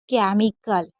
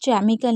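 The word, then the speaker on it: chemical: जैसे केमिकल तो इसमें हम केमिकल नहीं केमिकल पढ़ेंगे। क्योंकि यहां पर सी एच ई एम लिखा है।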